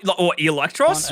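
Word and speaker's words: Eelektross: form of the powerful electross finally to represent um actually it's pronounced electros not Electro no Electro LL ability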